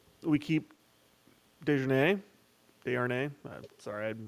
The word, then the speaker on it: Desharnais: We keep Desjardins. Desjardins. Sorry, I'm not really sure what the correct pronunciation is. Desharnais is what I've been Desjardins.